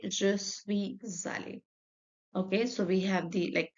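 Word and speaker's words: allée: Je suis allé. The pronunciation is same, but we need to put extra E.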